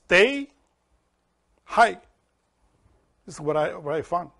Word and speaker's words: Tai Chi: And they said the pronunciation is not Tai Chi. It's Tai Hai.